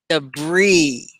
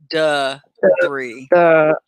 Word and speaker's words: debris: Debris. You see how it's pronounced? It's kind of like duh. Maybe I should say that looks like do. Debris. Okay. Debris. D-E-H-B-R-E-E.